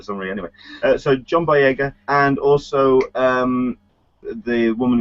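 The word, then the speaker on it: Boyega: gonna see how embarrassing this no okay John bya that's it got it I Sayo for some reason anyway so John Baga and also um the woman who's playing um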